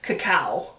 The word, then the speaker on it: cacao: This is all, I guess it's not even cocoa, it's cacao. Did I say it wrong?